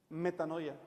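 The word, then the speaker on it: μετάνοια: Metanoia.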